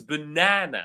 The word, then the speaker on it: banana: So Amin here says, well, the correct pronunciation is banana. So the stress falls on the second syllable.